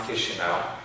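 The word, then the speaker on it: Chișinău: I was born in Chisinau, that's the capital. It has a difficult pronunciation. We use some diacritics. It's pronounced Chisinau.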